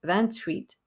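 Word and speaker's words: vingt-huit: van sanc vancis vancet van tweet van nuff now we do pronounce the t on ban tweets because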